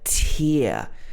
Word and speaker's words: tear: this is called a tear again a diphthong sound but a different one it's ear ear tear for example the young